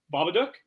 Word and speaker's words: Babadook: go who's announcing his name oh my God babadook yeah yeah there you said it right that